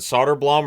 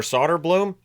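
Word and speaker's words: Söderblom: So, Arvid versus Elmer and they pronounce their names differently. So, that's just that's how that works. We've had the debate now, is it Solder Blum or Solder Bloom? Apparently, it's both.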